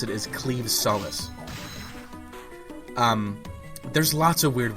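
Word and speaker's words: Claimh Solais: it I'm going to be calling it The clim Solace because that just it sounds right to me but yeah the technical way you pronounce it is cleave Solace um there's lots of weird words like that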